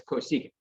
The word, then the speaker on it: cosecant: is abbreviated c-o-t again when you read those letters csc you don't pretend for to pronounce that you pronounce that as cosecant what you are familiar